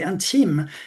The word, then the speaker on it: intime: If you pronounce it slightly differently, in the French way, intime, it could be in time.